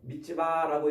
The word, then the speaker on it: 미스바: 이 미스바라는 건데 미츠바라고 이렇게 발음하는데 미스바는 망을 보는 곳, 쳐다보는 곳, 바라보는 곳이라는 뜻이에요.